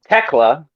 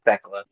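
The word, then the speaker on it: Thekla: Chris Statlander, Megan Bane, Will Nightingale, Ty Melo, Teela. Apparently, that's how you pronounce her name. It's not Techla.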